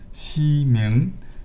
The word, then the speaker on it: Ximing: The artist name is Ximing. My dialect cannot distinguish the sound with or without the G, so you should pronounce it better than me.